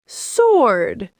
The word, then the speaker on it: sword: Sword. Sword. No W.